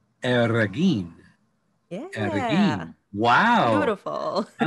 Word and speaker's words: Arreguin: It's a funky last name. It's Arreguin. So you get to roll. Arreguin.